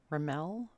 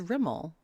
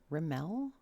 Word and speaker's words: Rimmel: a refresher it's riml raml why does she keep saying raml am I saying it wrong it's a Rimmel right rimel it's like a matte